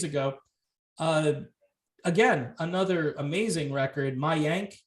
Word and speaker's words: Mayank: Mayank is how you say this, I believe. Mayank.